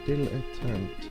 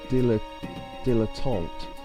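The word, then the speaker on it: dilettante: Dillant. Yeah, they've spelled it wrong. Um, it should be dilotant.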